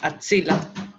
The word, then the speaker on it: axila: Axila.